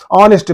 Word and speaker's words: honest: is also very important honest man in this H is silent we are pronouncing the word from o o is giving a wal sound and that's why we